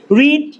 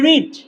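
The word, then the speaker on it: read: আমরা বারবার বলি না, এবার প্রথম বলবো রিড, এটার ভি1ও যা, ভি2ও তা, ভি3ও তা, কিন্তু পার্থক্য কি? উচ্চারণে। ভি1 হলে উচ্চারণটা হবে রিড, আর ভি2 বা ভি3 হলে উচ্চারণ হয়ে যাবে রেড।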